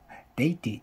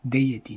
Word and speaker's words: deity: デイティーって読みながらね、デイエティーなのに。